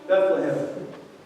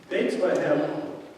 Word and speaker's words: Bethlehem: And you see what's astounding about that is Bethlehem, which is more like the Hebrew pronunciation, means house of bread.